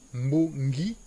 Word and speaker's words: Mbongi: Mbongi. Donc, nous avons deux syllabes, Mbo et Ngi.